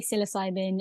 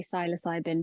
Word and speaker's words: psilocybin: how you pronounce It in America they say psilocybin in the UK they say siloc cybin but I tend to say psilocybin but yeah so it's